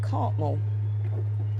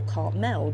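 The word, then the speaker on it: Cartmel: Park just outside the village of Cartmmore or Cartell depending on where you come from and how you say it.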